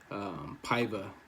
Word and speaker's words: Paiva: Getting into the prelims, Mark De La Rosa versus Arlene fuck, I can never pronounce this guy's name. Paiva, that's how you say it.